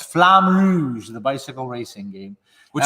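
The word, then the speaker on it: Flamme Rouge: france than i do it is flame rouge or flowers flame ruse is going to get you yeah not right it's flam rouge the bicycle racing game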